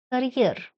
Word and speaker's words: career: Word carrier has two syllables and the second one is stressed. Here, career.